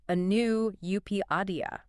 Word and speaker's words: Anu Upadhyaya: It's written by Anu Upadhyaya. And for those of you taking notes at home, you pronounce that Anu Upadhyaya.